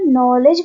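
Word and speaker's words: knowledge: next word देखते हैं नॉलेज अब देखिए जब मैं नॉलेज बोल रही हूं तो आपने नोटिस किया होगा कि मुझे यहां पर कोई भी के की साउंड नहीं आ रही लेकिन स्टार्टिंग जो है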